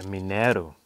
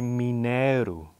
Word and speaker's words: mineiro: Okay, this next instrument is called a mineiro. Can you say mineiro? Sounds a bit Brazilian, it's good.